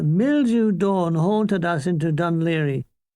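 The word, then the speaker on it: Dún Laoghaire: The mildew dawn haunted us into Dunleary. Dunleary. That's the proper pronunciation. None of that Gaelic crap, said Hall.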